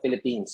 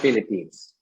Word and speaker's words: Philippines: way you pronounce the philippines so remember the philippines always has an s and it is always president by that yes the philippines so you tend to say philippine all the time so that's a very